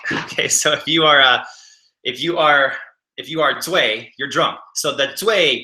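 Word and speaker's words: 醉: So it's in Mandarin we say Zui, and Zui. It's not really Zui. It's more of a sharper like a Zui, and that means drunk.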